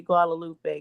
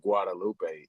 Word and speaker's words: Guadalupe: letter G right at that time it was pronounced like a w you know it wasn't Gua you know what I'm saying it was actually a w see a lot of these letters were pronounced a different type of way so the G spelling